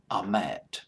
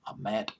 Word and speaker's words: Ahmet: Ahmet, I believe that's how you pronounce his name, Ahmet Ertegun, a legend behind the scenes, president of